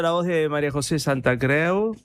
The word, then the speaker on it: Santacreu: Están escuchando la voz de María José Santa Creu. Se pronuncia así tu apellido, ¿no es cierto? Sí, Santa Creu, valenciano.